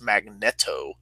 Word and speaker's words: Magneto: on like we some of my friends would pronounce Magneto instead of Magneto and that always threw me